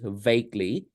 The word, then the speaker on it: vaguely: correct adverb for it which is vaguely yeah v a g u e l y but you only pronounce v a g and Lee the UE e is silent vaguely yes I vaguely